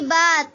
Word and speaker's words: با: لہجے میں ادا کریں۔ اردو تلفظ سے پرہیز کریں، یعنی بے، تے، سے، ہے، کھے، توئے، زوئے وغیرہ ہرگز نہ پڑھیں، بلکہ با، تا، صا، حا، خا، طا، ظا پڑھیں۔ ان 29 حروف